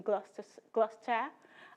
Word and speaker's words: Gloucester: It's a UK-based company in Gloucester. I got that pronunciation right, I'm learning.